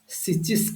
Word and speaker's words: schist: এটা pronounce schist করা হচ্ছে, তা স্পেলিং হচ্ছে SCHIST।